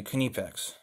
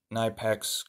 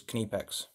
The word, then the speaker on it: Knipex: Well, Knipex, and that is how you properly pronounce it, if you want to pronounce it like the Germans, you say Kniepex.